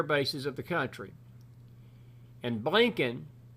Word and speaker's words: Blinken: And Blinken, which rhymes with blanking, it is McFoolery Friday.